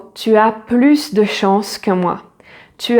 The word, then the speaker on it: plus: So something that is positive, that is adding something, and yet you do not pronounce the final S. The final S is silent.